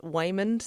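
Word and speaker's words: Waymond: very successful laundromat in the US her husband Wayman that is how you say his name by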